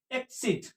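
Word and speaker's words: exit: और यहां पर देखिए ई एक्स आई टी एक्सट क्या पढ़ेंगे एक्सट एक्सट भी पढ़ सकते हैं इस वर्ड को और एग्जिट भी पढ़ ये दोनों ही ऑक्सफोर्ड डिक्शनरी में लिखा हुआ है आप पढ़ सकते हैं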